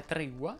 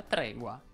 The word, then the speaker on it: tregua: eccezioni seguo dileguo seguito la parola tregua può essere pronunciata sia tregua sia tregua indifferentemente andiamo ora alla prossima